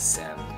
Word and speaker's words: སེམས: The sa itself is silent, it doesn't get pronounced, right? So this just gets pronounced as sem, right?